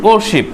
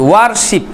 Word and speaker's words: worship: পূজা করা ইংরেজি হচ্ছে worship, WORSHIP, worship, the main word worship. ওকে, উচ্চারণ করবে worship, মানে ঠিক ওয়ারশিপ এরকম না, worship।